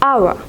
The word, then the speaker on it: hour: In all these 3 words, the first letter H is not pronounced. So the first word is pronounced as hour.